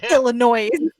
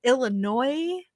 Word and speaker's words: Illinois: Robin by the way do not say Illinois they don't like it yeah they don't like it and I was like what yeah it's Illinois I guess which is weird